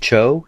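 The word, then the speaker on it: Choe: is this artist and I think it's pronounced David Cho c h OE he has this video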